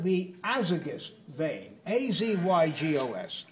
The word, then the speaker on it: azygos: A-Z-Y-G-O-S, azygos vein. Accent on the first syllable.